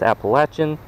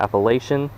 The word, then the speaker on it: Appalachian: at appalachian baits and just as a clarification it is appalachian not appalachian especially if you go to appalachian state the way how i think about it is if you say it wrong again i'm gonna throw an apple at you so anyway let's catch